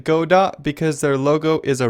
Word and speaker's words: Godot: the go dot engine I'm going to pronounce it God dot because their logo is